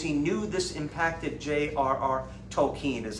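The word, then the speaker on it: Tolkien: he actually because he knew this impacted JRR Tolen is how he pronounces his name he looked to see what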